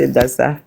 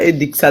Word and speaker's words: Edassa: Là, vous avez d'abord prononcé mal mon nom. Non, moi, je suis Edassa. C'est pas Edixa.